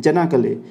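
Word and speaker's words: Çanakkale: अच्छा, इस गलीपोली जो बैटल है उसका दूसरा नाम भी है, चन्नाकले। बेसिकली नाम सी से है लेकिन इसको प्रोनाउंस करते हैं जनाकले, बैटल ऑफ जनाकले या बैटल ऑफ गलीपोली, ये दोनों ही एक ही बात है।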